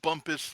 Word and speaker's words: Bumpass: that's your special thought we're sure it's it's pronounced bumpus but it's spelled bump bass right anyway but